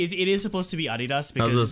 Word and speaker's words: Adidas: unless you're like really unless you're like really German like only Germans pronounce it I need us like theoretically it is supposed to be aa DDoS let's say that's my